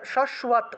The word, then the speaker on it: শাশ্বত: Typing mistake হয়ে যায়, তারা শাশ্বত উচ্চারণ করবেন, শাশ্বত, তালবস্য রস্যকার অন্তস্থ অ দিবেন, ঠিক আছে, কারণ এখানে তালবস্যের নিচে বফলা আছে, তালবস্যের নিচে বফলা থাকায় শুভ উচ্চারণটা আসবে।